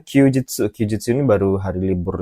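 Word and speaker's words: 休日: Kalau yang nomor satu ini bacanya Kyujitsu.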